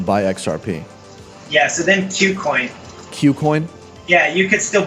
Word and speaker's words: KuCoin: So QCoin, KuCoin. It's spelled KuCoin.